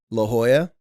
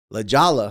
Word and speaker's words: La Jolla: there's a town called La Jolla Jay is silent but whenever a tourists